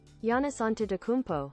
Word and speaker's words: Giannis Antetokounmpo: I don't even know how to pronounce this guy's name. Giannis Antetokounmpo. Giannis. See? We were both wrong. Giannis Antetokounmpo.